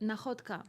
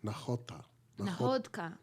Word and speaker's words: Nakhodka: Nakhodka. Nakhota.